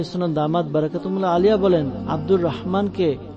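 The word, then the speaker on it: عبد الرحمن: দামাত বারাকাতুহুল্লাহ আলিয়া বলেন আব্দুর রহমানকে আমাদের মেমোনি সম্প্রদায়ের কিছু লোক মাজাল্লাহ আদরেমান বলে থাকে এমনটি করা উচিত নয় বরং যে নামই হোক তা সঠিকভাবে উচ্চারণ করা উচিত আব্দুর রহমান নামটি তো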